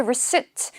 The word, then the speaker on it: receipt: 이때 receipt 영수증의 경우 P는 발음을 하지 않습니다. receipt 하시면 안 돼요. receipt이 되는 거죠.